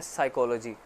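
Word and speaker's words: psychology: देखते इसी तरह एक वर्ड है साइकोलॉजी उसमें है आप शुरू में पी आता है आप पी एक साइलेंट वर्ड है क्लियर है आप उसको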